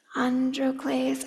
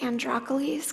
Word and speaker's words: Androcles: Androcles. I kind of like Androcles because it sounds like broccoli, but I'm going to try to say Androcles.